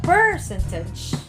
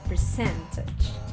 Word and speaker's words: percentage: So it's not percentage, as if you want to stress it in the first syllable. No, it's not the correct answer. It's not also percentage, which would be in the third stress, but the correct one is percentage.